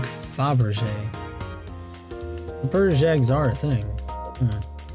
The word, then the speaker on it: Fabergé: It's pronounced more like Fabergé.